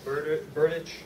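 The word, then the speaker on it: Berdych: a brand new tennis racket signed by Thomas Burdich. Pronouncing it right?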